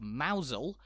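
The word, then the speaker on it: Mousehole: basic vowel sounds, and the Cornish village of Mousel tripping up many a visitor on their way.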